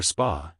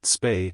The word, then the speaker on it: Spa: We're heading for spa, he said, naming a nearby Belgian town. But something in his pronunciation made the MP pause. He said spa with a flat vowel, not spay as the locals and gis pronounced it.